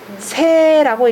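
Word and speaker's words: 說: 심지 오이러니 귀 때는 새라고 읽으셔야 됩니다.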